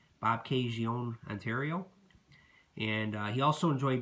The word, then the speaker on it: Bobcaygeon: Now, after Stanley retired as a player, he ran a resort in a hockey school in, I think it's pronounced Bobcaygeon, Ontario. Bobcaygeon, Ontario.